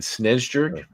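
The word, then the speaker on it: Snejbjerg: that no I did look it up online SN Jer you don't pronounce the beer Peter Peter sches who uh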